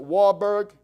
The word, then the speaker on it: Warburg: you study by a gentleman by name paul Varberg some people pronounce it Warburg the in his German it's varberg and he